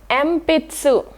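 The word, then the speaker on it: えんぴつ: So when there is this maru coming after N sound, it will pronounced as M. So here it is A, pitsu, empitsu. So here it is not N because maru is there after the N letter. So it is empitsu.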